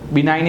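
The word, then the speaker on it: benign: side now we look at जी जी इ silent here sine करि साइन एस आई जी एन साइन assign बिनाई बिनाइन इ also साइ बिनाइन का मीनिंग क्या होता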